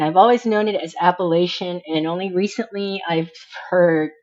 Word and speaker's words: Appalachian: and my sources are appalachi now I have heard it said pronounced appalachin and I've heard people people say that that is the correct way to say it I am going to say Appalachian because it's very akin